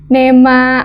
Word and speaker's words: Neema: Pronounce-nya Nima atau Nema? Nema ya? Walaupun double E.